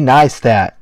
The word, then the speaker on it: Neistat: Casey neistat pronounced Casey neat used in a sentence